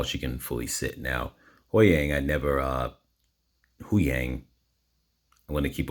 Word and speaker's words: Huyang: I'm always pronouncing his name wrong, but Huyang.